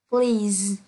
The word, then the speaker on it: please: Với SE đọc là Z với một số từ như là raise, lose, please, cause.